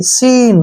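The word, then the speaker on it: scene: अब नेक्स्ट है एस सी ई एन ई, ठीक है ना, एस के बाद फिर से सी आ गया तो सी का प्रोनाउंस नहीं करना है, इसको पढ़ेंगे एस ई एन ई, सीन।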